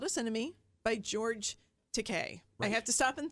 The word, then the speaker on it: Takei: us enemy by george takei i have to stop and think okay i know because i always want to say he says that in the book though he says it rhymes with okay and so i'm like